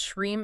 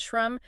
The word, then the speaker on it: Shreem: If you pronounce Shreem as Shrum, you are running a broken script.